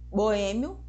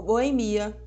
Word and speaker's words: boêmio: Boêmio ou boemia. Xerox ou xerox. Dentro do conceito de sílaba, a gente também trabalha os conceitos de encontros vocálicos e encontros consonantais.